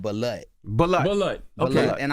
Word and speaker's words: balut: It's definitely not called butt. What's it called? It's called balut.